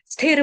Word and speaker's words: स्थिर: ठीक है, इसमें स्थ, स्थ है यानी कि थ थर्मस वाला है, त तरबूज वाला नहीं आने देना, स्थिर नहीं है, स्थिर।